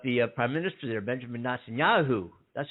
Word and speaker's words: Netanyahu: the um but the prime minister there benjamin netanyahu that's how you pronounce it uh said sunday that he would